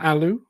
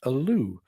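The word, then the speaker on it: Ålö: from those fine folks at Aloo it's not Aloo as I used to pronounce it it is Aloo it looks a little something like this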